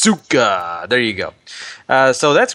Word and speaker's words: Asuka: Am I saying that right, Paul? Asuka? I don't know how to say it. It's Asuka.